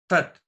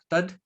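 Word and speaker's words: तत्: So to simplify this statement, Tat, it can also be pronounced as Tad, that knowledge of different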